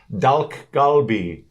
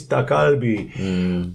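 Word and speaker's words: 닭갈비: How do you say these words? Dalk galbi. It's dakalbi.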